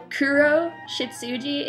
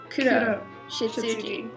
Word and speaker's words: Kuroshitsuji: It's not Kuroshitsuji, it's Kuroshitsuji. Like roll your R. Roll the R.